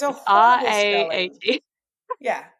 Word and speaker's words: Rahe: Anna Rahe.